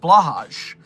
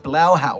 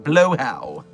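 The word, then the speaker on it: Blåhaj: thought they were pronounced blahage cuz that's how they're spelled, but no, you can't trust the Swedes and their pronunciations. And so it's like blowhau or something. Blowhow.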